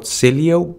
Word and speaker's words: Sileo: The next one we're going to search for is called Sileo, but it's spelled C-Y-L-E-O.